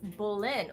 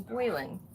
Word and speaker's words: Bolin: And my username is pronounced Bolin. Well, thank you. I like Bolin way better than Boylan.